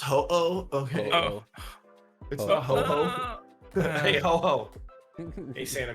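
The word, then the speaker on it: Ho-Oh: the legendary the pokemon it's pronounced ho oh okay hey hello hey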